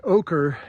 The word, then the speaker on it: Oquirrh: I think it's like like ochre is o q u i r h. So how's that for a spelling of something that sounds like it should be pronounced or spelled o k e r.